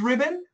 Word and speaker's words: ribbon: exactly what sound is what sound is this it's a schwat schwat ribbon okay mikiko give me